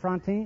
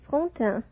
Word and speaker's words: Frontin: Miss Josette Frontin, is that right? Am I pronouncing your name correctly? Not very correctly. It is Frontin.